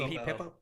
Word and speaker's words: Pippo: It most likely is going to be Pippo, or it's going to be hold on, let me pull. Is that how you pronounce his name? I thought it was Peepo. Peepo. Yeah, it's Peepo.